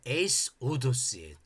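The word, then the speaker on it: εἴσοδος: 히라브는이 호도스라고 맨 앞에 발음할 때는 허 발음 이런 기식음이 발음되는데 이것이 단어 가운데로 들어갈 때 그 기식이 다 없어져 버려요. 조금 어려우니까. 아 그렇게 단어 중간에는 흡음이 안 나는구나. 그렇게 생각하시면 돼요.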